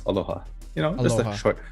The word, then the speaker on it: aloha: it's not a law it's not a long a long uh saying of like aloha it's not that long it's just aloha and that that's yeah